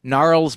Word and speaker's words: Gnarls: It was a soft two. You're right. Okay, it's a soft two syllables. It's not a Yeah. hard two syllables. But Oh yeah. gnarls does feel like it does feel like two syllables, but It takes longer. Yeah. it is not an emphatic two syllables or something. No, it's absolutely. I think the reason is my understanding is that the R and the L sound are both liquid.